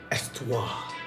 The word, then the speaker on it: Histoires: So the H in histo or you know the histories of perfumes uh is silent, right? So, it's Estto Estto the Puff.